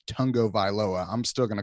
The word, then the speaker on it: Tagovailoa: that with Toa and his last name is pronounced Tong go by lower I'm still gonna call him tor - because